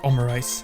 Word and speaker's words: Omurice: Okay, Jingling, you really look like Omurice, so, how do you spell that in, like, Romanji?